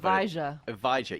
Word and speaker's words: Evija: pronounce this you wrote evija e like a but with a J exactly like Eve you know Adam and Eve like the first ohage what's with all